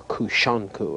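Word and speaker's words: Kūsankū: This form was originally known as kusanku or kushanku, another pronunciation.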